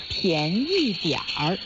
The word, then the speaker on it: 便宜: You can say 便宜点儿. 便宜点儿. Cheap in Chinese is 便宜, the second tone and the fourth tone.